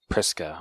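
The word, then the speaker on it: Prisca: At the hotel they are staying in, Guy and Prisa, is that how you say her name? I would say Priska? Priska, okay.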